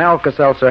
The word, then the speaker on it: Alka-Seltzer: you to remember it too just remember that Alka s e l t z e r spells relief although it's pronounced Alka-Seltzer if you want to be scientific